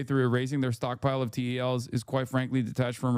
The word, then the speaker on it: TEL: TEL is pronounced TEL, Transporter Erector Launcher.